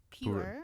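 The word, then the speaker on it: Pu-erh: is a p purera pure I think it's called It's pronounced pure yeah the it has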